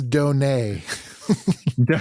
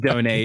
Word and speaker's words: donee: the donee the dhoni that's not donut that's donae it's pronounced donae if you please uh